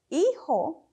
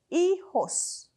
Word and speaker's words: hijo: say children you say Hijos to say child as a Boy Child you say hijo hijo and if it's